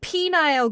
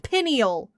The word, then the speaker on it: pineal: on here with Mezo saying that weird penile gland last time. It's pronounced pineal.